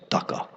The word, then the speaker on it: Daksha: Prabhupada would say Taka. Taka is how you say Daksha in Bengali. You don't say S-A, Taka.